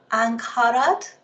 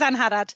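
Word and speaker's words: Angharad: So we have Ankarad, I want to say Ankarad. I was just about to say Hina, is it, or do you want me to pronounce it? But you're correct, it is Anharad.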